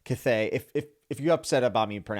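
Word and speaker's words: Cthaeh: Also the Cathay, as I believe how you say it, it's C-T-H-A-E-A, whatever. Cathay.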